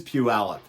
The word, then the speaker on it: Puyallup: is a suburb of Puyallup wow I got it right that time the first couple of takes I couldn't say it right it is Puyallup and that's named after